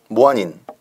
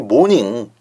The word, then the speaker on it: 모아닌: 9번만 모아닌 이게 이제 모닝, 아침 그런 뜻인데 1번식으로 발음하다 보니까 모아닌 이렇게 되는 거예요.